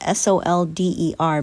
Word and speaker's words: solder: they say in the stained glass world as solder. It's actually spelled S-O-L-D-E-R, but it's pronounced solder.